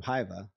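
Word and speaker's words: Hyvä: jumping back to the to Hyva, how do you pronounce it again?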